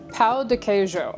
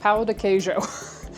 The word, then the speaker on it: Pão de queijo: Pa dejo. The J in it kind of does like kind of similar to how a French J I guess would be pronounced. Pa dejo.